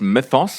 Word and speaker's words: Mythos: We've already got through the pronunciation difficulties. It's Mythos for those who are concerned.